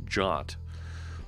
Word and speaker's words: JWT: weapon of choice says a JWT or that sometimes pronounce jot or go off I'm